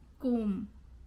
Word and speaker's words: comb: When you see MB. or okay, MB is there, then you don't have to say B, you just have to say So crumb, no B sound. Comb, no B sound.